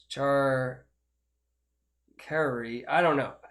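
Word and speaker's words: charcuterie: hoods made char cutlery but it's not char cutlery it's char kerry i don't know it's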